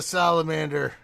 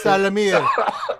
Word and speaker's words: Salamir: Hey, why are you a salamander? It's Salamir. Salamander. No, say Salamir.